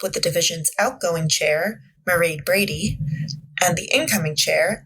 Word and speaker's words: Mairéad: Uh my name is Mairéad Brady. That's uh Mairéad, it rhymes with parade, and as most people can hear, I'm Irish.